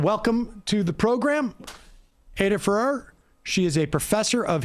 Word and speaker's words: Ferrer: vigeland and aydah please am i pronouncing your last name correctly ferrer that's fine great yeah apologies but